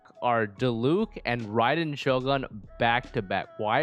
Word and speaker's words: Raiden: vessel of beelzebub oh can you at least pronounce it ryden dude raiden shogun raiden dogen the electro archon